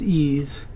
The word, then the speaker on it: EES: EES which is pronounced ease is an acronym for Engineering Equation Solver the curve fit and